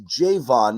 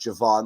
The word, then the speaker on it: Javon: Jaylen poke and uh it's Jayvon not Javon the way he wants it pronounced we've been told jvon